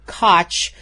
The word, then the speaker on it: Koch: Actually, I think his name is pronounced Koch, actually, Koch?